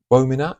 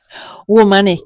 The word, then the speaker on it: Womanic: Basically, your sort of background, you you started Womanac. Is that the right way to pronounce it? Womanic. Imagine woman woman mechanic.